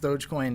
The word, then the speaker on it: Dogecoin: So with Dogecoin, it's actually pronounced Dogecoin. Is it really like the dog? Doge? Like the dog, yeah.